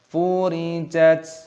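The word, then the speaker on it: فُرِجَتْ: Taknya sukun dibaca jat, furijat.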